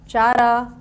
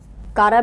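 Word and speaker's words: Chara: Like example, so many examples we have under algae, क्लिमाइडोमोनास, पायरोगारा, chlorella, यूलोथेरिक्स, चारा, कारा भी बोलते हैं, चारा भी बोलते हैं. Both the terms are, both the pronunciation are correct, right?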